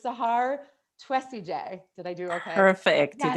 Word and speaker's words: Sahar Twesigye: you were in the Free Mama community that pronouncing names is important to me. So it's Sahar Twesigye.